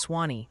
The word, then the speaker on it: Sewanee: Apparently it's Swanee for Sewanee.